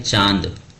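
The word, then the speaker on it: चाँद: ठीक है, ये है चांद, ठीक है, और ये क्या है, चांद।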